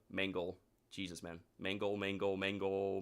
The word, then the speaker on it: Mangle: Not not messed up all the time, but like I didn't mean to say it like that, but yeah, we saw Mangle, not Mangle. Not Mango. Mangle.